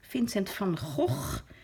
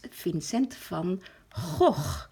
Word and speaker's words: Vincent van Gogh: that's Vincent van Gogh Vincent from HOF he is Dutch so if you pronounce it in the Dutch way the correct way it's Finn sent from oh now try that one